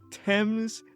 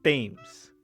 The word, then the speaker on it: Thames: Thames is spelled Thames. Why is it not Thames?